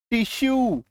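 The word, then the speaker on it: tissue: रहा है ना, परस्यू, टिश्यू। क्लियर है? तो जब किसी शब्द के लास्ट में यूई आए तो ऐसे शब्दों में यूई का उच्चारण य में बड़ी उकार की मात्रा होती है।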